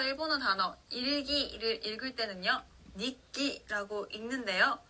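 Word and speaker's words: 日記: 예를 들어서 일본어 단어 일기를 읽을 때는요, 니끼라고 읽는데요.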